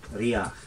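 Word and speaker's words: Riabhach: And it's the same one, but they pronounce the BH there and they don't in the south. But because you're not pronouncing it, you give emphasis to the vowel. So instead of Bray-Riach, it's Bray-Riach. You know, that's what you'll hear from the best speakers.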